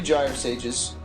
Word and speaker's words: Gyre Sage: Because he's got 3 Gyre Sages, which we now know from Zach Hill is pronounced Gyre Sage.